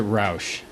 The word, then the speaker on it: Rausch: Yes, I pronounce it Rausch, but I think he's got it a little more. If we were in Germany, He'd have it right. He would pronounce my name differently, so.